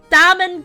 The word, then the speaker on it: Damon: incredible evidence you mean I think it's pronounced Damon oh my bad Damon gun I see not Dam Damon oh yes there were